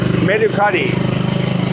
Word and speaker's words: Mercari: Mercari is the way we pronounce it here, Mercari.